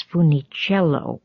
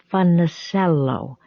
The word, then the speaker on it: Funicello: except his parents, began pronouncing their last name not as Funiciello, but as something that sounded like Funacello. In other words, they pronounced it the way that someone unfamiliar with the Italian surnames might.